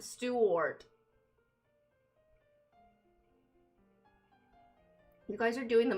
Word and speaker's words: Stewart: Stewart is pronounced like stew. Like the soup then wart. Stew wart.